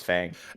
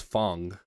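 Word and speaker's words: F.A.N.G: Is it pronounced Fong? I thought it was Fang. I don't it's know anything about from Street Fighter. everyone I've heard that it's not Fang, it's Fong.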